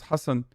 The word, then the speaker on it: Hasan: the right way no everyone says hassan that's uh usually like the the arabic pronunciation but uh it's fine